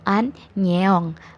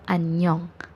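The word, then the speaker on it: 안녕: yang pertama ada anyeong romanisasi nya itu an nyeong annyeong tapi dibacanya tetap annyeong karena yo yo ini walaupun romanisasi nya y o tapi tetap dibacanya joe jadinya annyeong annyeong hai lalu ada contoh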